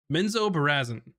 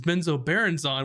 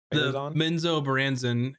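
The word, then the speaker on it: Menzoberranzan: do whatever you want the correct pronunciation whoa oh and the trailer is the correct one menzo baranzen is my least favorite one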